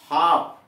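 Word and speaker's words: half: सब में देख रहे हैं यल साइलेंट कर दिया गया है।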